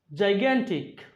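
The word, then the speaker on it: gigantic: জাইগ্যান্টিক, এখানে জি এর উচ্চারণ প্রথমটা জি জ, পরেরটা গ।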